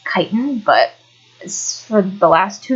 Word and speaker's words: chitin: keratin keratin or chin it's actually not actually pronounced chitten it's pronounced chitin but for the last two years while i've